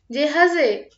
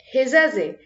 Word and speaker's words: হেজাজে: দিন 4-5 পর তিনি নিরাপদে জেহাজে হেজাজে, আমি উচ্চারণটা ভুল করলাম, হেজাজে পৌঁছে গেলেন এবং কাজ শেষ করে আবার দেশের দিকে রওনা হলেন।